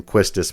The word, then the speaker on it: Quistis: So Quistus and Squall and we pronounce her name Quistice by the way.